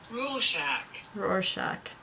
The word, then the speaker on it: Rorschach: How to pronounce Oh, okay. Rorschach.